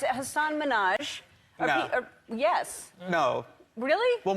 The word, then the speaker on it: Hasan Minhaj: Good, please, because everyone that says your name says Hasan Minhaj. Yeah, but the real way you pronounce it, and this is a big deal because my parents are here, it's Hasan Minhaj.